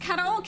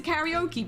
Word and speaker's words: karaoke: So the pronunciation is nothing like the the the original that we stole from like karaoke isn't pronounced like that. The original is pronounced kok but we turn it into karaoke because we don't know how to pronounce things good.